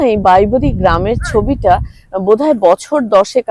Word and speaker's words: Bibury: জায়গাটার নাম হচ্ছে বাইবেরি এবং আমি বহুদিন এটার ভুল উচ্চারণ করতাম বিউবারি বলতাম বি ইউ বলে উচ্চারণ তো উচ্চারণ তো অত আর আমরা ইংরেজি ইংরেজি মিডিয়ামে তো আমি পড়ি তাই এত উচ্চারণ জানিনা তো আমার মেয়ে 1000 বার ভীষণ রেগে গেছে যে কেন মা তুমি এই ভুল উচ্চারণটা করো ইট ইজ বাই এটা বিউবারি না এটা হচ্ছে বাইবেরি তো এখনো বলতে গিয়ে